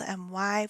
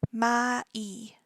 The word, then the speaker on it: MY: English so it's spelled m y we would say my and the Korean also reflects that may may so once again it's